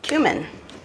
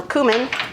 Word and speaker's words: cumin: paprika one teaspoon of cumin or cumin I've heard people pronounce it both ways teaspoon cumin sprinkling it